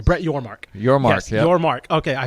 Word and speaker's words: Yormark: Brett Yormark. Yes, yep. Yormark. Okay, I focused so much on pronouncing his name correctly that I literally forgot his name before I was about to say it.